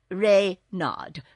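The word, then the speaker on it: Renard: Therefore, my official name is King Rayard IVth. Readard with the accent on the re.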